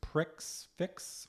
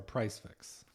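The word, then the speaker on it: prix fixe: and $46 three course pricks fix or price fix. Probably price fix. Price fix, but they spell it with an X.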